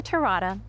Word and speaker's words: Terada: I'm Terada, rhymes with pina colada, realtor and American Dream TV host.